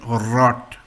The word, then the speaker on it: rot: R in English is pronounced as an ear in German. So this is very specific pronunciation and it has got a big role of your tongue and throat. So in English there is no proper word which can represent this. However, in German you can say rot. Rot means red.